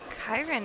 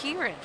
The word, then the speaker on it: Kieran: Kirn is such a interest. Oh, wait. I'm saying it wrong. It's Kieran.